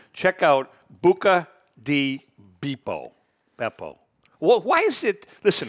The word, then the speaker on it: Beppo: Beppo. Well, why is it, listen to me, there's two P's in it. So, the accent on the E.